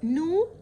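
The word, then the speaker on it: know: يعرف no، ال K silent no، no، no.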